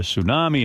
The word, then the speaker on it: tsunami: the Japanese uh uh tsunami, an earthquake will fire this. One thing, you know, I keep hearing tsunami, but do you see it printed? It's there's a T in front. Tsunami.